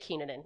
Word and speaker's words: Kenin: correctly I say it kenin yeah I get heat sometimes from Finnish people it's my family name I say it the way my grandmother says it she says it kenin